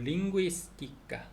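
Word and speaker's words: lingüística: 근데 베르구엔자는 베르구엔사 ZA니까 베르구엔사는 창피인데 구엔사 할 때 이게 DLSS가 있으니까 베르구엔사 그렇게 하면 되고 링구이스티카 언어학.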